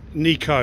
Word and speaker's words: Nikau: have you know who've caramiere puna kaiki nikaopam nico is the correct pronunciation and i've i've convinced maureen pugh maureen